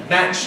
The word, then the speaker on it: match: Much like truck, match like track.